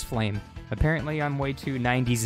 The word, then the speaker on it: Flame: and i've noticed um i've been saying her name wrong it actually is flame apparently i'm way too